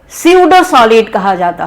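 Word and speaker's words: pseudo: Crystalline solids को true solid कहा जाता है, जबकि अमॉर्फस सॉलिड को स्यूडो सॉलिड कहा जाता है। स्यूडो spelling is PACUDO, P is silent.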